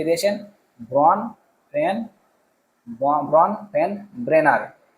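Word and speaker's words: Bronfenbrenner: দিয়েছেন কিন্তু ব্রনফেন ব্রেনার কে দিয়েছেন ব্রন ফেন ব্রনফেন ব্রেনার উচ্চারণটা করবে একটু তারপরে 22 নম্বর দেখো শিক্ষকের কাজ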